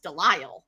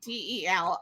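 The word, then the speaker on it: Delisle: I pronounce it is Del right d e l i s l e Del it is an Americanized version of a French name if I went over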